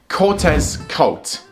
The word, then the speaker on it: Cortezkolt: my pony character's name, cortezkolt. It's easy to pronounce. You can split it up into three parts. Cortezkolt, just with a little fancy K at the start.